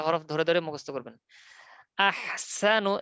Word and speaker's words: أحسن: আহসানু, সিন চিকন করে, আহসানু আমালা। أحسن الذي خلق الموت والحياة ليبلوكم أيكم أحسن عملا. الذي خلق الموت والحياة ليبلوكم أيكم أحسن عملا. এরকম যেন না হয়, লিয়াবলুয়াকুম আইয়ুকুম আহসানু আমালা।